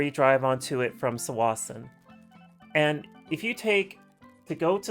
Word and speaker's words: Tsawwassen: Horseshoe Bay, or you drive onto it from Tsawwassen, and if you go to Tsawwassen, you got to take a highway marked as Highway 17.